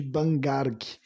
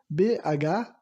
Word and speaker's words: Bhangarh: chama o Forte de Bangarg. Eu vou soletrar porque não sei se está correto a minha pronúncia, né? Bangarg quer dizer não, se escreve Bhangarh. Bhangarh, né?